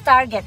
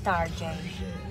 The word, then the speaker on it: Target: It's Target actually, but my husband pronounced it as Tarjay. Because it says it sounds more glamorous.